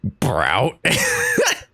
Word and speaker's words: Browt: Browt. Just one syllable. Just one syllable fucking gets me. Browt.